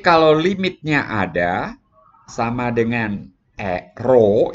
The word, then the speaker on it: rho: limitnya ada sama dengan rho ini dibacanya rho ya kan Ini dibaca rho R itu nulisnya tuh